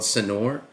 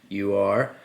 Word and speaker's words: Sanur: It's called Sanur. Sanur, and I've been calling it Sanur this whole time, and then I heard someone who's been to Bali said Sanur. I thought John was saying it wrong, but it turns